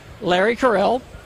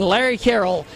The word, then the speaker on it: Larry Carroll: A film directed by Larry Carell. Actually, I said his name wrong. I'm going to say it again, Larry Carroll. But it's spelled Carell, I still maintain. I'm saying it right.